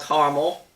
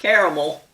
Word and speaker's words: Carmel: back in the 80s this town is called Carmel or Carmel but not caramel the pronunciations of these